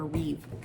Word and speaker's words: Reeve: Um, I uh I have always viewed Superman as Christopher Reev, not plural, not with an s in the air.